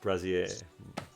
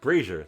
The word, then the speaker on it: brazier: and dinged up brass Prezi a brazier brazier that's how you pronounce it and she's like do